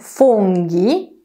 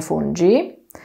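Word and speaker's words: funghi: szynka surowa szynka gotowana mówimy fungi czyli grzyby nie Fuji oraz brusketta a nie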